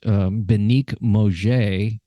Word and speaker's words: Benig Mauger: Your name is pronounced Benig Mauger. Yeah. But it's spelled Benig. That is a G, right? Yes, it is G. And Mauger is Mauger. That's it, .com. It's a soft G.